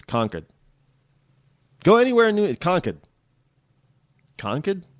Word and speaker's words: Concord: things properly um like conord is not Concord it's conquered go anywhere in conquered